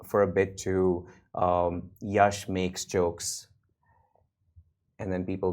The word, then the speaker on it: Yash: Yash it's Yash rhymes with rash hour uh I've kept